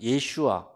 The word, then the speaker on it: 예슈아: 예수라는 이름은 실제적인 그 발음은 예슈아라고 하는 것이 맞습니다. 예슈아, 여호수아, 호세아 다 같은 의미들인데 이것은 여호와는 구원이시다라는 의미를 담고 있어요.